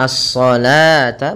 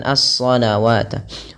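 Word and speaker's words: الصلوة: Alif kecilnya di atasnya maka ini cara membacanya asata bukan asawat wau di sini ditandai dengan warna abu-abu artinya dianggap tidak ada yang dianggap adalah Alif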